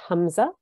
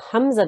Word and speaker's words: Hamza: It is pronounced, the letter originates from the bottom of the throat near the chest. There should be no trace of the Ayn sound in its pronunciation. So the Hamza, the sound of the